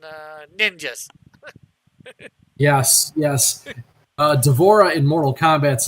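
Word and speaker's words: D'Vorah: called the apostrophe Vora and uh and it's pronounced the same way devorah so I ended up changing the middle vowel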